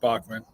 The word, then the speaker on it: Bachman: Do you pronounce it Bachman or like Bachman? Yeah, just Bachman.